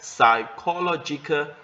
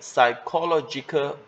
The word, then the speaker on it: psychological: Okay, 11, psychological burden. 这个呢, 我们这个 P 没有读的, 我们没有读成 psy, okay? 我们读 SY 开头的, 可是 spelling 要有啦, okay? So 11, psychological burden, 就是心理负担.